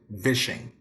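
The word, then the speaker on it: vishing: to look at is fishing with a V so we came from fishing we're doing smashing and now well we did switching and now we're doing vision and that's the right way to say it all right so Vision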